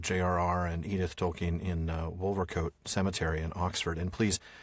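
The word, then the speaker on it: Wolvercote: found does say I I know it might be wolcot but what I found is it apparently is wolver coat for most folks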